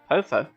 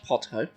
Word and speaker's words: Potho: Then, as ministers to the kingdom of Hyrule, I, Potho, I'm going to suggest that your name is pronounced Potho, and not Potho, because this just gets worse and worse.